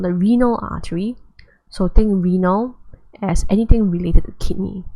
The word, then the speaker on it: renal: So think renal as anything related to kidney. So when you see the word renal, it's anything related to kidney. Think urinal, but without the U, and spelled with an E.